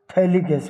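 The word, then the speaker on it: phthalic: तो इसको हम कहेंगे थैलिक्स इड थैलिक्स इड ठीक है पीएच साइलेंट होता है पढ़ेंगे क्या थैल एसिड आइसोमर इसका दूसरा नाम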